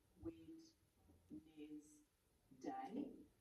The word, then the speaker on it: Wednesday: And remember the way that we can remember Wednesday, because we can't really hear the syllables, so we could go Wed-Nez Day.